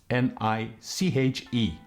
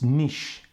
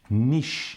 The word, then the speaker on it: niche: niche and for you if you can't pronounce it the way it's spelled it is n-e-e-s-h that's the way you